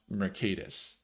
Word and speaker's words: Mercatus: It would kind of spell Mercatus. It's pronounced Mercatus.